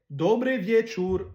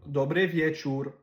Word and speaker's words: dobry wieczór: En polonais, dobry wieczór, dobry wieczór. Fait que les O en polonais qui ont un accent, ça se prononce comme OU. Dobry wieczór.